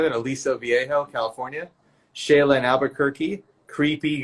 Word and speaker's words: Aliso Viejo: Aliso Viejo, California.